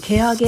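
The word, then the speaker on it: 蹴上: 蹴り上げると漢字で書いて蹴上げと読みます。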